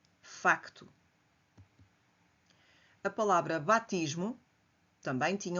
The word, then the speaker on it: facto: A palavra facto mantém-se o c antes do t porque esta consoante é pronunciada. facto.